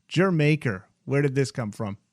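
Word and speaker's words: D'yer Mak'er: y e r m a k e r pronounced jer maker where did this come from yeah er again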